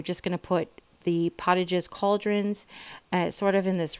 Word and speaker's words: Potage: But I think it's Pottages. You might say Potages because like potato, it would be a long O, but I'm not really sure.